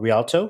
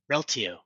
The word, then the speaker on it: Rialto: for a company called Rialto is that correct Realo Realo sorry it's the emphasis on the wrong salable right okay and uh